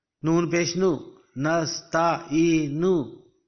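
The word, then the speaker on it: نستعين: Because the ayat is going to be ended here, so you will not pronounce the pesh of noon. You will simply pronounce it Iyyaka na'budu wa iyyaka nasta'in.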